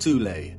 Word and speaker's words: Thule: secret society within germany called the seoul society sometimes alternatively pronounced thule that had sub-factions within